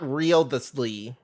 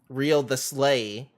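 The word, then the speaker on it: Wriothesley: It's not Risley, like I keep trying to say his name. It's Risley. Not Real the Slee. Real the Slay.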